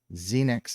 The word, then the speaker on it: Xenyx: Today we're going to be taking a look at the Xenyx, the Behringer Xenyx is how I would pronounce it.